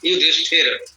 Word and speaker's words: युधिष्ठिर: हमने आपको बताया था कि वैदिक भाषा में ये मूर्धन्य उच्चारण हो जाता है। युद्ध स्थिरा, युधिष्ठिर नाम हो गया।